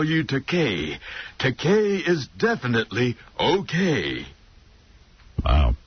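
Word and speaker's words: Takei: By the way, George, how do you pronounce your last name? Is it Teai? This is a frequent misprononunciation of my name. No, it's pronounced te. I corrected. It rhymes with okay.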